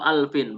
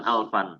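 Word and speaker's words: ألف: Kemudian wa alfin, bukan alfan, ya. Ini harus kita perhatikan.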